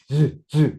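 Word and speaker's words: ㅿ: 똑같이 하면 돼. 똑같이 하는데 딱 하나만 다르게 하면 돼요. 시 발음할 때 딱 하나만 다르게. 자, 이거는 무성음이에요. 안 올울림 소리야. 이거는 울림 소리야. 그러니까 똑같이 시옷을 발음하면서 목청만 올려 주시면 됩니다.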